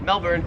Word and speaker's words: Melbourne: it wouldn't matter because the Australian accent just leaves the r off if it's ever in the last syllable of a word so you would pronounce it Melbourne Melbourne and you would pronounce